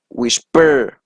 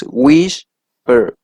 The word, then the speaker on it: whisper: For example, we have here, if we separate whisper, the first syllable is the syllable that is stressed, right? If you can listen, whisper, right? It is not whisper, no, it is whisper.